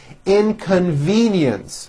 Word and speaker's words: inconvenience: call I left immediately inconvenience four syllables and there is also a hidden y in the last syllable inconen the power outage